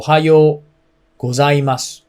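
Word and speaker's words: おはようございます: i just told you o is a little low and high o is a little high and you have to extend the oh so ohayou gozaimasu is the correct way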